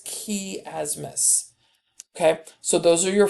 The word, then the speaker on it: chiasmus: in there okay noticing the word chiasmus is not how it's pronounced it's key asmus okay so those are